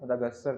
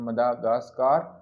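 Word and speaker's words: Madagascar: तो इसको डिफरेंट लोग डिफरेंट तरीके से प्रोनाउंस करते हैं, कुछ पढ़ते हैं मदागास्कर, कुछ पढ़ते हैं मदागास्कार, ठीक है। तो इसकी डिफरेंट प्रोनाउंसिएशन है, तो जो इसकी प्रोनाउंसिएशन है वो मदागास्कर है, ठीक है।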